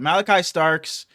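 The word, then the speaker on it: Malaki Starks: I'm looking at Malachi Starks. Or, is that how you say that? Is that how you pronounce it? It's spelled a little different. That's how you say it. Malachi Starks.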